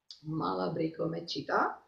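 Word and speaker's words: Malabrigo: at a time, because this is Malabrico Mechita, sorry, yes, the stress is on the second syllable.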